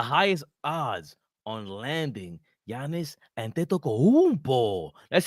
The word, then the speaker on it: Antetokounmpo: The Knicks have the highest odds on landing Giannis Antetokounmpo.